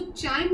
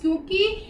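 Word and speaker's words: chyme: The churn food is called काय। इसको हम बोलते हैं काय, हम इसको चाइम नहीं प्रोनाउंस करेंगे, ये है काय।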